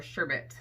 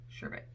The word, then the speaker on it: sherbet: Let's go over Rainbow Sherbet, or Sherbet, really, right, is how it's pronounced. Sherbet.